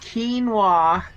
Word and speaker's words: quinoa: gosh that's just a lot like wow it's pronounced quinoa oh God Jay summoned me I need